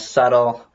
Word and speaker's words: subtle: And then again with subtle, so some people would say that the B is silent. I like to think of the B, T as one unit for T.